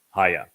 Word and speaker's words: haya: Haya explains how to pronounce the he and also the yod in Yahowah's name. It is he, yod, he, and it is pronounced haya.